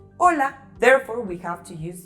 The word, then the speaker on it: hola: And those words starting with an H and A, they have the same pronunciation of A because H doesn't make a sound in Spanish, just like the word hola.